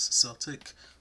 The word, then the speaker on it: Celtic: So to make the Celtic, or a more modern pronunciation is Celtic pattern, we're going to start out by making a slip knot.